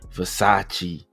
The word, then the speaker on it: Versace: I don't even know how to pronounce these uh past those Vasacasis or you know supposed to be Versace.